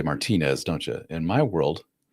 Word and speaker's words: Martinez: They pronounce their Z's with the th. They very lispy sounding. So we would say Paul Martinez.